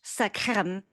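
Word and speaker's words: L'chaim: I think I pronounced it with the more Yiddish sakrem, but lakheim for everyone.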